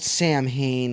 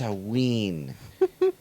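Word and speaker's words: Samhain: not Sam Hain, it's Saween.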